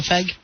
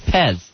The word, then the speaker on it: Fez: who I am no does it uh does it rhyme with PEG no it doesn't rhymes with Pez cherry flavor Pez here's